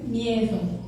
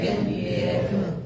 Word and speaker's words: miedo: Remember that when letter D comes between it's pronounced like th as in. So it's like m e th o. No miedo. No miedo. No miedo.